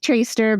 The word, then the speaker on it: Troester: And it sounds like Traster, but it's spelled Troster.